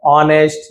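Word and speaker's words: honest: तो honour ऑनेस्ट जिसमें देखिए साइलेंट है।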